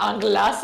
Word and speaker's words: anglaise: I'm thinking, so it wants a cinnamon cream anglaise, I think is how you pronounce that. Anglaise?